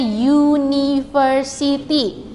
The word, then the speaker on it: university: Jadi yang di bagian kedua itu bukan u-nya yang terdengar, ya. Tapi kata university itu u, dibacanya university.